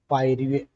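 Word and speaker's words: pyorrhoea: पायरिया की spelling बड़ा अजीब होती है, PYRRHOEA, पायरिया, है ना, यही होती है, ध्यान दीजिएगा।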